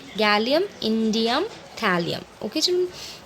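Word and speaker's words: indium: Okay, इंडियम, इंडियन नहीं है, इंडम नहीं है, इंडम नहीं है। ठीक है, इंडियम है, थैलियम है, गैलियम, इंडियम, थैलियम।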